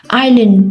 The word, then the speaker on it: island: Island, then S is a silent letter.